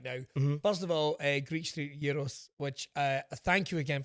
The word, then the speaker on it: Yeeros: First of all, Greet Yuros, which uh thank you again for teaching me